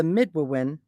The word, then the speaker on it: Midewiwin: Okay, so the secrets of the Midwewin were originally communicated to mankind by initiate priest Manabozo, or Great Rabbit, who was a servant of the Good Spirit.